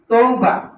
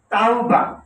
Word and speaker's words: তাওবা: শব্দটা মানুষ বলে তৌবা, শব্দটা তৌবা না, শব্দটা হচ্ছে তাওবা।